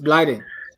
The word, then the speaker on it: Blyden: Blyden. My pronunciation. It's Blyden.